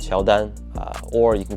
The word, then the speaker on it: Qiaodan: a Chinese brand called Sheldon or you can call it QD and short form it is literally the Chinese pronunciation of Jordan Jordan as in like